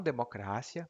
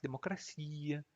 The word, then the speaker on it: democracia: E se você falar espanhol, é um pouco como fobia, democracia, não democrácia, mas democracia, fobia.